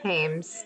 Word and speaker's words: Thames: If Mary sees you keeping cats against you, she Thames, the H is silent.